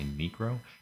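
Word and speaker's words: Niekro: Nero n ncro oh I'm not saying it wrong I'm say necro became the oldest pitcher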